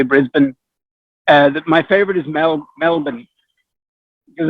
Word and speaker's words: Brisbane: You can't say Brisbane. You have to say Brisbane.